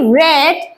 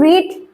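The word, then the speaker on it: read: ক্যাম আমি এসেছিলাম আই রেড এটা কিন্তু রিড এটার উচ্চারণ হবে রেড আমি পড়েছিলাম ঠিক আছে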